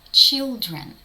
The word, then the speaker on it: children: N дає звук н children Sun Men Зверніть увагу на слово children діти літера C разом з літерою H дають звук ч дуже часто в англійській